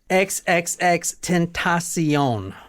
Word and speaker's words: XXXTentacion: see you SE e on like Oprah's network XXX tentasion now the book we're reading tonight is from